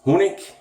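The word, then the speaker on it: Honig: too uh hasslinger um if you want to pronounce it the the German Way it's Hing this is honik and this is right doesn't that sound inviting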